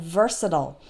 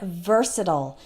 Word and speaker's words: versatile: hostile and mobile and versatile well this is actually more complicated than it seems because there are two different pronunciations so let's take the word versatile as an example first